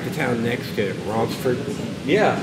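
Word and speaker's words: Ronceverte: Yeah, it looks like it's pronounced Ronsiberte. Yeah, but it's Ronsford. I think that's like that's how my mamma would my family's from around that area. Yeah, she'd say Ronsford. No, that's how they say it.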